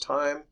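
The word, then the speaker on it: Thiem: is called the time equation th hem is pronounced time named after the the person who initially derived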